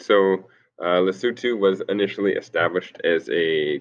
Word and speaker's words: Lesotho: It's spelled Lesotho, but it's pronounced Lesotho.